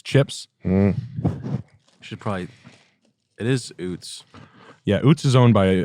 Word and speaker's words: Utz: It is Oots. Yeah, Oots is owned by, I think it's the Diocese of New York City. Uts. Turn that crap off. They're saying it's Uts. It's Oots. It's Oots.